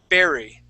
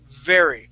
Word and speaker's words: very: right you're that that word very you are pronouncing with a small or a a b sound saying Berry okay in English there you go that's how we we pronounce the word we say very now I'd like for you to uh uh